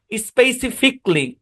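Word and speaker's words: specifically: বেসিকলি logic লজিক্যালি না লজিকলি প্র্যাক্টিকলি স্পেসিফিকলি automatically বুঝছেন এটা সাইলেন্ট এবং উচ্চারণটা সিতে গিয়ে থামবে।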